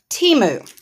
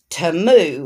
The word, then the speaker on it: Temu: unbagging and these are items I got from Teemu or TAMU or to however you pronounce it I've heard it pronounced two different